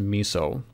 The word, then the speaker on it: MISO: output from the servant often pronounced miso serial clock sck and